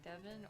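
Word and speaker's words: Devin: I'm sure I was always curious because I would hear people say Devon or Devon. Devon. I've been called both.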